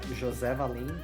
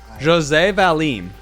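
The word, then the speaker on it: José Valim: your name terribly do you mind correcting my pronunciation quick uh it's uh Jose valim but Jose Jose valim Jose valim that's as close as I'm going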